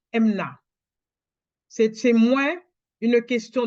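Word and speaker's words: אמונה: définition une signification hébraïque la foi en hébreux se prononce MNA MNA ça s'écrit e m u n a h ça se prononce MNA c'est c'est moins une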